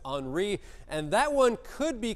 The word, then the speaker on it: Henri: Looks like Henry, but it's Henri.